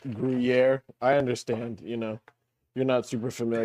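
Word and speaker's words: Gruyère: But uh no uh gyra. It's pronounced griier.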